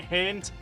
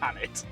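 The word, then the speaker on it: H'aanit: I've been pronouncing it Haint, but it's Hanit. Quite clearly Hanit, as well the way it's spelled.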